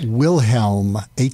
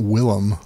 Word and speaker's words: Wilhelm: It's Wilhelm, Helm, not Willem.